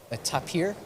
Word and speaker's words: tapir: And there was a the animals called the tapir is how they pronounce it. I I would just say taper, but yeah.